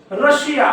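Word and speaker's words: Russia: अजून एक शब्द देतो रशिया बघा रशियाची स्पेलिंग बघा या रशियाच्या स्पेलिंग मध्ये एस नंतर आय ए आहे म्हणजे 100% या एस चा उच्चार काय होतोय श होतोय म्हणजे कशा प्रकारचे आता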